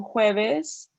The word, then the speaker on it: jueves: J, like it sounds like an H, so jueves, that's Thursday.